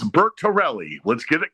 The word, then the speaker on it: Bertorelli: Not Bernelli, it's Bert Tellerelli.